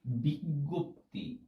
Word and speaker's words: বিজ্ঞপ্তি: উচ্চারণ করতে দেখি সবাইকে, এটার উচ্চারণটা হবে এরকম বিজ্ঞপ্তি। অনেকে এটাকে বিজ্ঞপ্তি বলে, এটাকে অনেক ভাবে উচ্চারণ করে থাকে। সুতরাং এইটার সঠিক উত্তরটা হবে বিজ্ঞপ্তি।